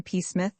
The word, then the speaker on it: Psmith: I am Peacemith said the old Etonian reverently. There is a preliminary PFA the name. This however is silent like the tomb.